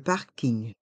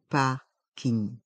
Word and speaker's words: parking: prononçons le parking le parking dans le mot parking les lettres in G se prononcent ne on entend le son gne ne c'est un mot anglais mais on le prononce à la française le parking le parking